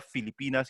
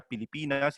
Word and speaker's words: Filipinas: dos son filipinos pero uno la esposa no puede pronunciar filipinas y pronuncia pilipinas y le pega y